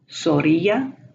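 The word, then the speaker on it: zorrilla: The zeta is the Z, and it is pronounced as an S, not as a Z. They don't have the Z sound ever. So we have Zorilla, paz.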